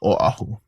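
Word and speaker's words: Oʻahu: So just make sure you pronounce that Okina a very strongly. Oahu.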